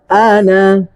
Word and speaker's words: أنا: তোমরাও তার ইবাদতকারী নও ওয়ালা আনা এখানে আনা টান দেওয়া যাবে না এই আনার যে আলিফটা আছে জবরের বাম পাশে যে খালি আলিফটা আছে এই আলিফ হলে তো টান দেওয়ার কথা কিন্তু এখানে টান দেওয়া যাবে না নিষেধ ওয়ালা আনা ওয়ালা আনা